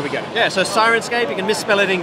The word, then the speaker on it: Syrinscape: how to spell it, it's spelled S-Y-R-I-N-scape. It's in the singing sirens, singing the sailors onto the shore with their beautiful songs.